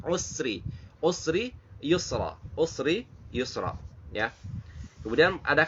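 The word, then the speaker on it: مَعَ الْعُسْرِ يُسْرًا: Nah, di sini sering jadi kesalahan dibacanya ma'al usri yusra. Jadi ada s-nya itu, sin-nya itu seperti ada apa namanya? Seperti kokolah, memantul, padahal itu tidak boleh. Usri, usri yusra, usri yusra, ya.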